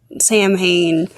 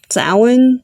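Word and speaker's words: Samhain: Dean to look at the evidence that sound Sam Hayne and like I am I'm so annoyed that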